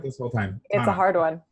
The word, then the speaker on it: Thana: It's the H is silent. That's okay. I've been mispronouncing this whole time. Thana.